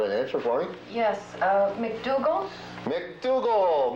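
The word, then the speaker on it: MacDougal: Yes, McDougal? McDougal, George. Very good. You're absolutely correct. McDougal.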